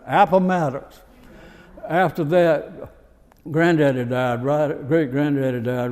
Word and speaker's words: Appomattox: Appomattox.